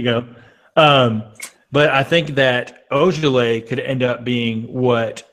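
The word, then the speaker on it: Ojeleye: Semi Olajale, the second round. Semi Ojale. There you go. Ojale. Okay. Let's go. You guys want some French lessons now? There you go. But I think that Ojale could end up being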